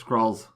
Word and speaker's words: Skrull: I love those Skrulls.